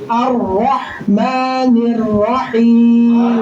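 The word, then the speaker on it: الرحمن الرحيم: আর রাহমানির রাহিম।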